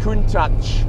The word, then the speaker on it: Countach: anniversary of the shockwave that was the lamborghini couldn't touch to give it its correct pronunciation um that was launched in 1971 at